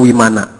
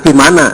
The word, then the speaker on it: Vimana: India mengenal yang namanya wimananaa kalau V dibacanya W J Bukan vimanana tapi wimanana seperti nirfana bukan dibacanya nirfana